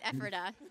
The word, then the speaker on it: Ephrata: It rhymes with Pephrata. Right. We're going to go with Ephrata.